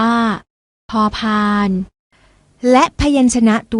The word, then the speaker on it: พ: อ่าน ว่า ผอ ผึ้ง ส่วน พยัญชนะ ตัว ที่ 2 อ่าน ออก เสียง พอ อ่าน ว่า พ พาน และ พยัญชนะ ตัว ที่